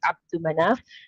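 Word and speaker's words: Abd Manaf: There is no lam there. Okay, it's Abdul Manaf.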